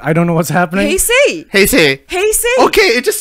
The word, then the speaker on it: Heisei: We were in the Heisei era. I don't know how you pronounce that. That was from No, 19... no. You pronounce it the way you pronounce Malay.